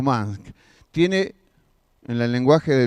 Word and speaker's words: Musk: Yo creo que está bien pronunciado, porque es con U, pero es Musk.